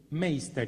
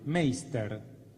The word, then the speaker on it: Meister: Wilhelm Meister. ¿Y esto cómo suena? Meister. M-E-I-S-T-E-R. ¿Sí? Meister. Wilhelm Meister.